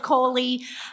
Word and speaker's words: Coli: Um, spelled like E. coli without the e, but pronounced koli.